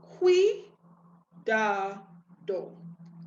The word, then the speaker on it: cuidado: is the fact that when you have CU, it takes that KW sound from your Q. Okay, so right away, we have some clues as to how we're going to be pronouncing this word. Q or Q, and the stress again is going to be on the second vowel.